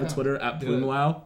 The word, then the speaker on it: Plümlaut: Plümlaut, like umlaut with a PL.